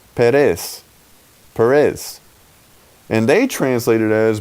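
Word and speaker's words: פרס: And the word is pronounced Perez.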